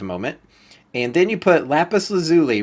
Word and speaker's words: lapis lazuli: macerator to grind up lapis lazuli or how do you say this lapis let lazuli lazuli that's how you should say it yeah lapis lazuli and the reason I've